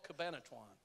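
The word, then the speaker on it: Cabanatuan: and the largest one was called Cabinet Ron Cabana tuan I'm southern it may be some other pronunciation but it's called cabana chuan and it was the largest POWs camp and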